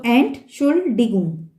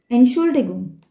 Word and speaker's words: Entschuldigung: You can separate the words and then you can pronounce it like ent, A-N-T. You can pronounce it separately, and then S-C-H-U-L. You can pronounce it separately, and then Digung. Okay? So Entschuldigung. Entschuldigung. Once you are habitual, you can pronounce the word in one time.